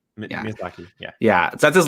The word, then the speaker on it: Miyazaki: This movie, I don't want to butcher his name, but is it Miyazaki, or how do you pronounce his name? Miyazaki.